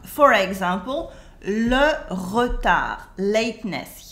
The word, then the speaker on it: retard: For example, le retard, lateness. Here you can notice that the D in retard is silent. We don't say it.